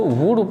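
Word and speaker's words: would: के second form board इसको वुड पढ़ा जाएगा इसमें एल साइलेंट वर्ड है और इसको पढ़ाया जाएगा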